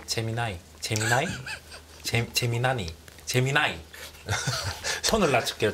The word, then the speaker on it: 제미나이: 제 재미나 재미나 재미나니 제미나이 손을 출게요 저 표준으로 제미나이 얼핏 스펠링 봐서는 재민이 같은데 재미나 미국식 발음으로 재미 볼트 발음으로 하니까 진짜 그렇게 들리네요 진짜 재미나니 뭐 이런